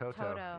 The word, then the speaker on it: Toto: With her dog With Toto.